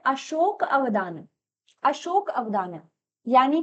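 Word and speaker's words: अशोकावदान: इसके बाद नेक्स्ट आप यहाँ पर क्या देखेंगे, आप यहाँ पर देखेंगे अशोक वदनम, लेकिन अशोक, माफ कीजिए, इसका सही प्रोनाउंसिएशन है अशोक अवदान, अशोक अवदान।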